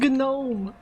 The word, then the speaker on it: gnome: What's a gnome? Stop pronouncing the G.